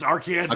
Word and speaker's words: Arkansas: Okay, and you still pronounce it Arkansas as well, correct? Yeah, it's Arkansas, Okay.